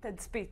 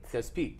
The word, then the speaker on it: Tazpit: The correct pronunciation of your news agency? Tazpit. Tazpit.